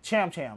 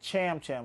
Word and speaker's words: Cham Cham: Cham Cham. That's it. Cham Cham with C-H-C-H. Not Tam Tam.